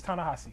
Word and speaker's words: Ta-Nehisi: It's Ta-Nehisi. It's okay. No, it's all right. It's pronounced different than that.